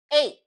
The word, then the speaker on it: eight: So it's like pronouncing only this first and second letter and the last letter. So 8.